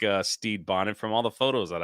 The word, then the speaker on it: Stede Bonnet: and make sure I say his name correctly Steed Bonnet Steed Bonnet yeah what a name look at that Captain